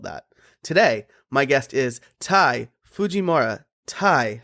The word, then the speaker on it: Ty Fujimura: Today, my guest is Tai Fujimura. Tai, how are you doing today? I'm very good. That was an excellent pronunciation.